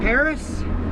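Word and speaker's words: Perris: of the Inland Empire place called Paris which is spelled p e r r i s it's not the one with the eiel tower and we are going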